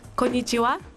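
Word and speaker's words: こんにちは: by rogers this october still two-nothing detroit kenai kanaichi it's pronounced konichiwa oh thanks i'm going to japan you ever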